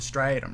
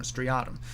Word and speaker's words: striatum: signals to is uh called the striatum striatum um i've heard people pronounce it both ways uh the striatum is